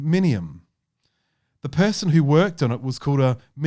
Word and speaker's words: minium: You know, there is an orange colour called minimum. Let me just make sure I get this pronounced. It's called, and it's one of the. Is it really called minimum? Sorry, minium.